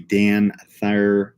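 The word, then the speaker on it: DanThyr: amount of iodine for our thyroid however the Dan Thayer study which is pronounced da n th yr the dance basically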